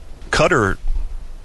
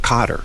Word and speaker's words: Qatar: I know that uh cutter uh cutter actually Qatar the way you the way you uh the country is supposed to be pronounced cutter from what I've heard not not cter or cater uh you know pronunciation